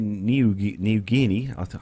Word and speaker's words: Niugini: Air Niugini, or Air New Guinea, God, that's a difficult one to pronounce, that one, is the national airline of Papua New Guinea and has operated since 1973.